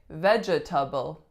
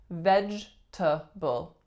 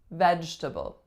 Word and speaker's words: vegetable: vegetable now I know this one looks like vegetable or better yet veget table but that is not how it's pronounced it's vegetable vegetable make sure to eat your vegetables next one